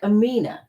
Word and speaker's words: Aminah: And he said he wanted me to let you know it's spelled like Aminah, but he wants you to pronounce it Aminah.